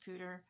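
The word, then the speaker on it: Poudre: and yes it's pronounced pooter and so you can tell because when i first moved here i was pronouncing it with the french pronunciation and and people would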